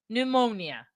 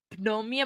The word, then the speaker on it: pneumonia: I don't know why, but I always read that with the P, pneumonia, but it's not. I know it's not. I think it's pneumonia, and I think that's how you say it because the P is silent.